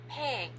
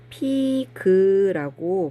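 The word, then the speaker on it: pig: 그라고 많이 발음을 하는데요 사실은 문장 안에 들어갈 때 픽 하고 한 글자로 거의 발음을 해요 자 이번엔 땅을 깊이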